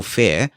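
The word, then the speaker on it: Feir: So if you search for iOS Personal Power and then Michael's name, so it's Michael and Fair is spelled F-E-I-R, that will come up as well.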